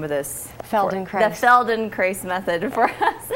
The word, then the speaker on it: Feldenkrais: who is very familiar with, you have to pronounce the name of this. Feldenkrais.